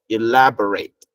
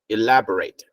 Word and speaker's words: elaborate: is a verb so for the verb it has a different pronunciation okay so it's elaborate elaborate this is a verb